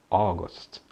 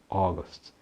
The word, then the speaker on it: August: Agosto em inglês é August, August. A cidade na Nova Zelândia é Auckland, porque tem o AU aí, Auckland.